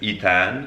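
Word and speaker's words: Eitan: to say his name so my name is Ean spelled e i t a an but my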